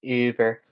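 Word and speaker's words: Über: It's actually pronounced Uber.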